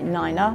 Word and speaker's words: niner: And therefore in order to distinguish between 'nine' and 'five', you really have to say 'niner' and 'fife', otherwise they will sound the same.